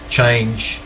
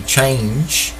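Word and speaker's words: Chang'e: UTC is actually the Chang 5T1 rocket stage. Chang, I think that's how you pronounce it, C-H-A-N-G-E, Chang. It's a little apostrophe comma before the E.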